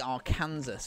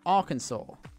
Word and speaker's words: Arkansas: it with a jump ah well that'd be our kansas freezing over not hell also why is our